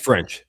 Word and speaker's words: French: So, how do you pronounce is it for French or is it just French? French. Just French.